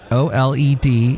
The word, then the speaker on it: OLED: some yeah and that's how they pronounce it o-l-e-d it's pronounced oled these are premium tvs and the